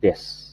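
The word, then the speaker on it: です: Ya, tulisannya desu, tapi dibacanya des, atau kadang u-nya terdengar sedikit, des.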